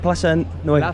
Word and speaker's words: Plaza Nueva: How do you pronounce it? Plaza Nueva.